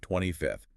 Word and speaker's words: 25th: No, you must use the ordinal number, 25th. It requires that breathy TH sound at the end, placing the tongue slightly between the teeth.